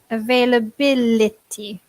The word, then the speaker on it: availability: I think the noun is even more difficult to pronounce because it's a little bit longer. Availability. Here the end becomes an I. Availability.